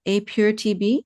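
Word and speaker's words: APIIR-TB: You said it, a pure TB. Is that how you pronounced it? Yes. Okay. Yeah. So there's actually two I's, right? APIIR dash TB.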